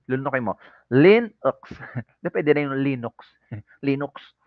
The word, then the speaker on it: Linux: Apple os let's proceed to Linux y It's pronounced Linux kakainin mo yyung u lulunukin mo Linux pwede na ung Linux Linux tagalog na tagalog